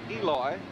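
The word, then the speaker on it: Elois: Grooms pronounces his first name Eloy, and he is out of the ballgame, and here's where it happened.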